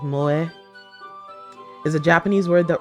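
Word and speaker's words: 萌え: Japanese like Mo like MO is a Japanese word that refers to Strong feelings of affection for characters in manga anime video games and other media directed at the otaku Market it's pronounced Mo yeah there we go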